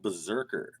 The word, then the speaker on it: BRZRKR: up a little book it's called berserker i think i'm pronouncing that right but don't don't get me wrong because it is not spelled berserker okay and not to be